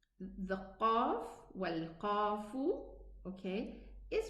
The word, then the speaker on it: ق: So we have the qaf and the kaf, they are both pronounced from the furthermost tongue.